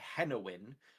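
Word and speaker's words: Tehenhauin: Oh, also the biggest skink ever bred and the champion of Sotek is called, it's pronounced Tehenowin, but if you was look at it phonetically, it looks like 10 in 1.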